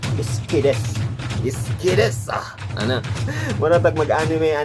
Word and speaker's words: Sukidesu: Kung basahon na nimo Sukidesu, pero ang pag-pronounce na is Iskides.